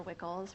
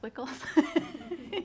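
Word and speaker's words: WCCLS: Cooperative library services or wickles rhymes with pickles we actually just recently learned that a lot of people call us wiggle in the county anyway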